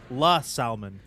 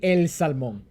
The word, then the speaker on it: El Salmon: Captain Taro in chat says it's La Salmon. Well played. Well played. Well played. Nice. It's actually El Salmon. El salmon. El Salmon. It's El, not La.